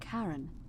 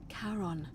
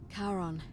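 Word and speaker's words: Charon: you described it only your pronunciation is a little off the name you heard wasn't Karen it was c h a r o n as in Caron the ferryman of the Dead karon who in exchange for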